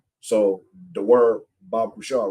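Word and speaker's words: בבקשה: Left to right, pronounced right. So the word Bab Kusha, right? Ba Kusha. Ba Kusha, right?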